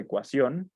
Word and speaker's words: ecuación: En el caso de ecuación, vemos que sí tiene un acento escrito, perdón, ya que esta palabra, como podemos ver desde la clasificación, sería una palabra aguda, porque la sílaba tónica es la última sílaba de la palabra, además de que tiene, bueno, que termina en la letra N.